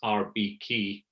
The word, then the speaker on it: Arbikie: claddy or something else once people know it's rb key as we phonetically put on the bottle people they know the